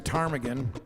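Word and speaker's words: ptarmigan: It's actually the tarmaggan spelled with a pt. Armagan. I don't know what the P is there for.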